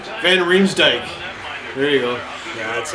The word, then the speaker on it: van Riemsdyk: Van Rims Dyke.